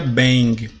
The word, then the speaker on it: shebang: O nome é shebang, mas se pronuncia bang.